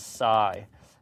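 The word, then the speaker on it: psi: and we call that Sai remember this is Sai that's how you pronounce it um so if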